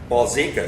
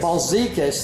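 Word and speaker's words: Balzekas: Balsecas. Balsecas, thank you.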